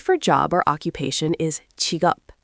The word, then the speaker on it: 직업: The word for job or occupation is chiup, spelled j i k e o p and pronounced chigup.